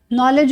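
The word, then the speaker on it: know: Knife में देख लीजिए आप लोग, नो में देख लीजिए, आई डोंट नो बोलते हैं ना, आई डोंट नो, इसमें के साइलेंट होता है क्योंकि देखो के बाद एन आ रहा है।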